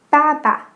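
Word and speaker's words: 爸爸: Dad is also very easy. Baba. Baba. For all of these, it's the same syllable twice.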